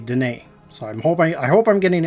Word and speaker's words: Denis: I was saying Denis Villeneuve, and it's actually Denis.